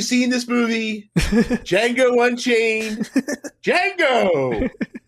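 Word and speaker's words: Django: this movie Jango unchain Jango the D is silent very good very good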